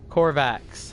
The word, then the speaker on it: Korvax: Captain Tuta, or however you want to pronounce it. Korvax, my bad.